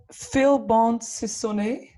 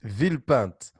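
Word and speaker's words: Villepinte: of your birth city is it called phil bonds sony it's vilpant oh billboard yeah it's a city near paris almost right almost right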